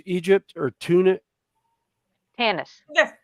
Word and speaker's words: Tanis: Star Wars was in, I'm probably going to mispronounce it, but I think it was Tunis, Egypt, or Tanis. Yeah. Tanis, Egypt.